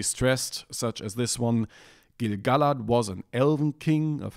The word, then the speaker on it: Gil-galad: without the hyphen, then the stress would have to be only on Gil-galad as the third to last syllable. And I had trouble accepting this for a while, personally, because I just got used to Gil-galad, which sounded nice to me, and eventually the thing